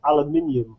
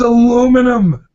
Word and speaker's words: aluminium: We'll take the U out of colour if you learn how to pronounce aluminium. It's aluminum.